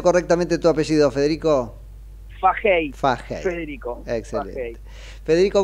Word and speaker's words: Fahey: ¿Cómo pronuncio correctamente tu apellido, Federico? Fajey, Fahey.